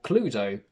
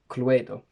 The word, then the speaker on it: Cluedo: in front of me, I can only pronounce them as Trivial Pursuit, not Trivial Pursuit, or Cluedo, not Cluedo.